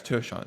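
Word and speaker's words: Tershawn: I I think it's pronounced Tershan, but yeah, it's Tershan, excuse me.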